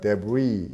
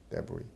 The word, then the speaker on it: debris: debris. 이렇게 발음합니다. debris.